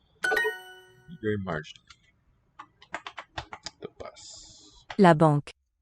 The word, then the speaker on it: banque: La banque. Banque. Single syllable.